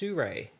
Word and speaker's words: Sirui: And it's pronounced Sirui.